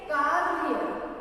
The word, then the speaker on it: कार्य: कार्य कैसे उच्चारण करेंगे हम? इसका प्रोनाउंस कैसे करेंगे? कार्य। पहले र का उच्चारण करेंगे ना, तो कार्य।